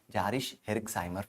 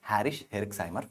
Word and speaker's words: Jarisch-Herxheimer: We call it as a Jarisch-Herxheimer phenomena. Actually pronounced as a Harish-Herxheimer phenomena.